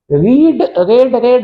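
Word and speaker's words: read: Many books वर रेड बाय मी, अब देखो रेड होता है, मतलब रीड की तीनों फॉर्म की स्पेलिंग तो सेम होती है, लेकिन जो प्रोनाउंसिएशन है वो रेड होता है।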